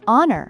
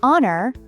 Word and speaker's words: honor: The h in honor is silent, so it should be an honor. But if they don't know the rule, they might blurt out a honor.